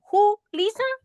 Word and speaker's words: Julisa: Basically, my name, guys, you ask who and then Lisa. Put it together. Who? Lisa. Who? Lisa.